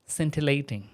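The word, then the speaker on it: scintillating: and skillful shining brightly it will be pronounced as centilating centilating fine example maybe some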